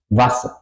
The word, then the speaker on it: Wasser: Y aquí ya he marcado eso, como hemos aprendido, un doble consonante tiene el efecto que la vocal antes suena corta. Wasser, Tasse. No digo Vase ni Tase, digo Wasser, Tasse. La A corta.